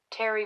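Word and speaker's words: Terje: like a Keith and a Terry but it's spelled ter G hey ter je r someone that he and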